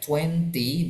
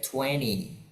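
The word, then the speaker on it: twenty: 20 cara bacanya boleh dua, boleh 20, boleh 20. 20 British, 20 Amerika.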